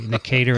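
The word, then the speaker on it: Necator: Here, 2 episodes downstream, I learned how to pronounce it properly. Nicator americanus.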